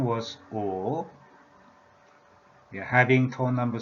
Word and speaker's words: 五: I already talked about this, slash, this character here, just like this, meaning 5 elements, and the pronunciation was O, having tone number 3 value.